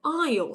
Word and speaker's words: aisle: Por si acaso se escribe con la letra S, right? Aisle. Pero la S no se pronuncia, se escribe, no puedo escribir aquí, así que solo lo voy a decir. So it's A-I-S-L-E, right? But we say aisle, aisle seat.